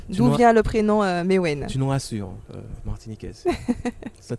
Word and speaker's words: Mewen: On va dire bonjour à notre invité, c'est Mewen. Mewen, c'est ça. J'ai bien prononcé. Bonjour, oui, Mewen. J'ai bien dit. Exactement, c'est ça, Mewen.